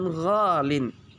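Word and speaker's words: غالٍ: Ya, tapi tidak bisa kita karena susah diucapkan, maka diucapkan ghalin.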